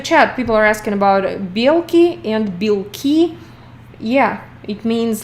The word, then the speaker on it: белки: Белки and белки. Tiny difference in pronunciation, but big difference in meaning. Meaning protein and squirrels.